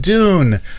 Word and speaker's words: Dune: Dune not Dune yeah everybody thinks I'm saying Doom when I say Dune I have to say I have to do the more British Dune the more British pronunciation say Frank Herbert's dune